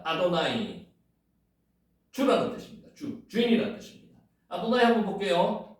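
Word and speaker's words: אדני: 두 번째가 달렛입니다. 또나 발음나죠. 요게 눈이죠. 니언에다가 아 발음나니까 아도나 이렇게 되죠. 요게 요드가 나오니까 아도나이 이렇게 되는 겁니다. 아도나이.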